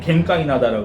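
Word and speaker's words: 玄界灘: 일본어 발음으로는 겐카이나다라고 그럽니다.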